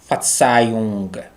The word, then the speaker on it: Verzeihung: V is pronounced F, ER is pronounced A, Z is pronounced Tsu, I is diphthongs and is pronounced I, H is not pronounced and ung. Verzeihung. Verzeihung means pardon.